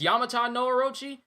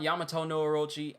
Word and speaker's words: Yamata no Orochi: Oh, it's Yamata no Orochi? Have I been saying it wrong this whole time? Yamato no Orochi? Yamata no Orochi. Have I been saying it wrong this whole time and y'all didn't correct me? Y'all correct me on everything, but y'all don't correct me on Yamata? I've been saying Yamato the whole time?